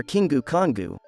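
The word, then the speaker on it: キングコング: existed king kong our kingu kongu as it is pronounced in japanese has been a popular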